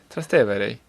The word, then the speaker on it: Trastevere: Trastevere. Trastevere.